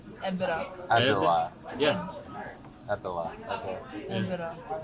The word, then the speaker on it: Erdbeere: How do you say it? It's Erdbeere. Erdbeere.